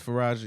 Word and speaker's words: Faraji: So there's a woman who I am not sure how to pronounce her name, and I want to be respectful. Faraji. It's Faraji. Last name Faraji.